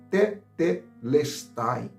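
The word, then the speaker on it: τετέλεσται: Irmãos, e essa palavra no grego se pronuncia tetelestai.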